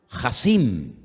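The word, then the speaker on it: חָסִין: Porque la palabra poderoso, y la vamos a poner en la pantalla ahora, la palabra poderoso en hebreo se pronuncia, díganlo conmigo, Hasim.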